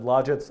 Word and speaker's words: logits: And a lot of places said logits, and some other places said logits. I'm going to go with logits, like logic or logical. But you can see this is actually what the logits look like.